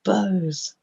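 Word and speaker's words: beaux: in this poem and the poem is bo and it's spelt b-e-a-u-x so it's meaning lots of beauty isn't it but it could be um in spoken word as in bows anyway so imagine yourself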